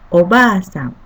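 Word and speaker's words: おばあさん: Second character ba with same vowel sound a is pronounced as long vowel sound, like ba. If you read as they are in hiragana spelling, it could be ba-a, but we pronounce it as ba.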